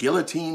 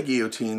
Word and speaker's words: guillotine: Judicial punishment we think about the famous French yotin or the guillotine as it's properly pronounced but before the guillotine there was beheading by sword and also beheading